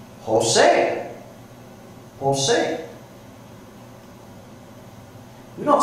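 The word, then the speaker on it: José: Jose. Jose. We don't spell it with an H, do we? Even though that J sounds like an H.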